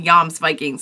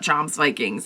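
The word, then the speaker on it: Jomsvikings: Because you just brought a bunch of, like, bloodthirsty, they're not called, somebody said they're called Yams Vikings, not Joms Vikings, even though it's spelled Joms Vikings.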